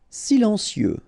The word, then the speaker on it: silencieux: Silencieux, final X not pronounced.